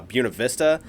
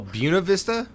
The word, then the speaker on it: Buena Vista: that white right because a lot of people want to say Buena Vista well that's the correct I mean like but no Buena Vista yeah it well yeah so Buena Vista is the Colorado pronunciation right well yeah because that would be the correct Spanish pronunciation yeah but it's Buena Vista and the Chamber of Commerce even says this because it was uh